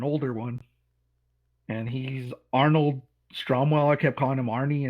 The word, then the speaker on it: Stromwell: that for for one of the villains Arnold strong Arnold stromwell was his name and uh he's a rival